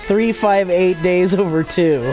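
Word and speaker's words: 358/2 Days: It's pronounced 358 days over 2.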